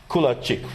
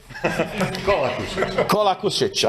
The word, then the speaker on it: Kolakušić: And another colleague from Croatia, Kulačić, right? Do I pronounce it correct? Right now, not. Kolakušić, I know it's tough with all these names.